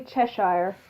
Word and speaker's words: Cheshire: I don't know actually how to pronounce that. Did I get it right? Generally Cheshire.